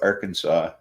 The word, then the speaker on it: Arkansas: illinois issues it's like we throw a fit if someone pronounces the s at the end of arkansas but we say illinois yes well yeah we don't like the s sounded either and i would never